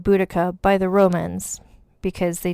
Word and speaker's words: Boudica: I'm going to pronounce her name Boudica because that is how I think it's said, although some people pronounce it Boudica.